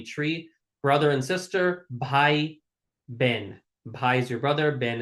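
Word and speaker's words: બહેન: brother and sister, bhai, ben. Bhai is your brother, ben is your sister. Easy peasy. Bhai, ben. Bhai, Bhai, ben. Ben is spelled bahen. It's like Bahen, bahen, but it's pronounced ben.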